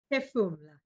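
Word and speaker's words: Phefumula: And in this case, and please tell me how to pronounce it. Is it Pefumla? Pefumla. Pefum. Yes, there you go. Pefumla, which means breathe.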